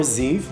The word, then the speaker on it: Ziv: Ziv, c'est mon prénom et on le prononce comme Yves, mais avec un Z. Or Ziv, like Steve.